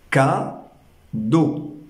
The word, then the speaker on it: cadeau: Dans le mot cadeau, toujours, nous entendons Ka-do. Résultat, nous avons 2 syllabes.